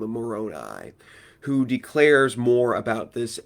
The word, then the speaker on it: Moroni: Moroni, I believe, is the proper pronunciation.